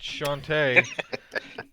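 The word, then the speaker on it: Chauntea: yeah that's that's I absolutely know how to pronounce that it's Shantay yeah goddess of agriculture for humans anyway all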